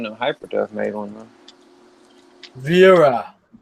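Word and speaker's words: Wera: Vera. Like Schwarzenegger. Vera. Well, I am like 100% German, so I gotta pronounce my W.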